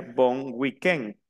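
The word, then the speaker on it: bon week-end: la próxima semana y la última palabra sería bon weken que es buen fin de semana viene del inglés pero se pronuncia con el acento francés Okay nuevamente Entonces vamos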